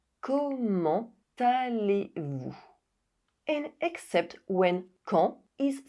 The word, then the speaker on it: Comment allez-vous: With the exception of this question in which the liaison is required. Comment allez-vous?